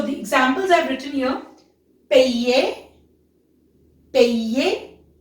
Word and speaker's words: payer: Payer. Payer. So YER has sound as ye. Ye. Okay, so it will become payer. Payer.